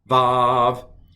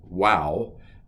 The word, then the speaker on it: Vav: Aleph, Bet, Gimel, Dalet, Hey, Vav. Used to be called wow.